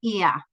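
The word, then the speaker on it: Oia: I highly recommend that you visit the town of Ia, which is spelled O-I-A, on Santorini.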